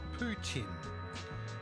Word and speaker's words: poutine: as a year's sponge is largely mispronounced here where it's predominantly French it's called poutine that Harvey helps it